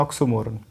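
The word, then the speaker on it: oxymoron: तो आप देख रहे हो इसको कैसे प्रोनाउंस करेंगे, ये ऑक्सीमोरॉन, ऑक्सीमोरॉन, ये देख रहे हो करेक्ट उच्चारण यही है दोस्तों, ये ऑक्सोमोरन नहीं होता है, ये होता है ऑक्सीमोरॉन, ऑक्सीमोरॉन।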